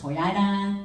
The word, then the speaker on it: Toyota: mazda uh toyota and nissan which is pronounced entirely differently in australia it's toyata nissan and mazda but one of my